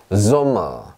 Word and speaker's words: Sommer: S라고 말을 하지만 실제로 발음은 S가 아니라 지읒 발음이 납니다. 보세요. Sommer 이렇게 합니다.